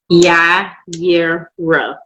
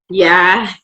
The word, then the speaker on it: YiYera: How do you pronounce your name? YiYera. 3 syllables. YiYera. That's it. 3 syllables.